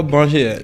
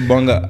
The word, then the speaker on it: Banga: comme ça parce que quand tu tu vas mettre e r on VAC Banger comme le disent les Ivoiriens donc la famille LEP c'est pas Banger c'est banga banga B a N G